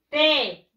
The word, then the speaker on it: think: Repeat after me, boys and girls. Think. A ver, con la lengüita, vamos a sacar la lengua.